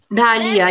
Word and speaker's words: dahlia: ढालिया, यस ढालिया। Yes, spelling is DAHLIA, ढालिया।